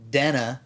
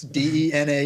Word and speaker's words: Dena: And it's not Dana. That's not That's not how that's pronounced. That's not how the English language works. D E N A is Dena.